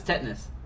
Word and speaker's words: tetanus: No, it's tetanus. That's how it's pronounced.